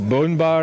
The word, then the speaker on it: Boon: It will be called Boon Bar, or Bone Bar, as we pronounce it.